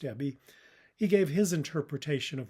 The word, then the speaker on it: Ebbe: A week after its release, the screenwriter Ebie Rose Smith, that's EBBE, I assume it's pronounced Ebie, he gave his interpretation of what Falling Down was about.